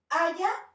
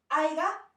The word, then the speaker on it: haya: Si la persona dice aiga, no se dice aiga, es haya.